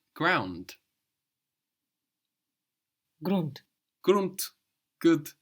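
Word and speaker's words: Grund: you might say ground grunt grunt good g r u n d and that D pronounced like a t grunt round grun run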